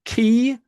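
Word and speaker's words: כִּי: Um going up several minutes ago this this word right here Hebrew word is called uh is pronounced key.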